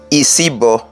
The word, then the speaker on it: Isibo: is a masculine name isibo is that is the full pronunciation you see bombing Mini